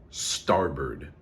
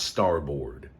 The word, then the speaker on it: starboard: saying what uh left Port that's great right starboard not starboard I know that's how it looks please I